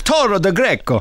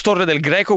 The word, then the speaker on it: Torre del Greco: First of all, it's Torre del Greco, which you said very nicely.